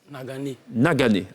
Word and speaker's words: Nagané: Je vais me tourner à présent vers Nagane. Nagané. Enfin, on a la bonne prononciation.